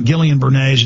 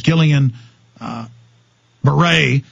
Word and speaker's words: Guillain-Barré: It's not Guillain-Barré, it's Guillain-Barré.